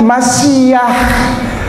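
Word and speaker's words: משיח: Yang paling kanan hurufnya itu mem. Sebelahnya yang seperti huruf W itu shin. Lalu ada koma kecil ya, betul ya? Di antaranya di atas itu, di antara huruf shin itu ada koma kecil. Itu yod. Itu bukan koma, itu huruf. Itu yod. Lalu ada yang seperti kursi paling akhir itu hei. Jadi bacanya Masiyah.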